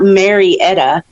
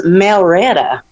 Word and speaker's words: Marietta: one day she says you say your name wrong darling i said what do you mean she says it's not marietta it's melretta you know i actually